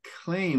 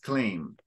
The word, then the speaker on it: claim: Lord very good now I think you said clean but it's X claim X clean yeah very good okay